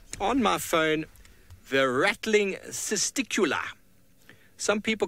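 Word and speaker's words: cisticola: my phone the rattling sista Kula some people call it the sister Cola some people call it a sista Kula really however you'd like to and is rattling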